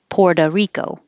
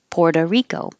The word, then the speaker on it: Puerto Rico: lot of the times the o at the end will change to an uh because we're connecting it to rico so puerto rico you don't even hear the oh poor doe it'll sound like duh puerto rico puerto rico